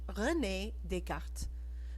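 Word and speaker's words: René Descartes: he had a french name his name was renee descartes pronounced rene descartes this may sound like a funny name to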